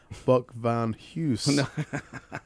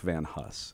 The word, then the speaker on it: Van Huss: thank colonel captain coach vaughn houston if i'm saying it right no no no you're not but that's all right how do you say it uh he's talking about a man named buck van huss in fact okay buck